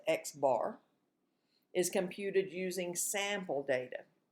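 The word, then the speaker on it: x̄: mean here's the symbol for it and it's pronounced x bar is computed using sample data the sample mean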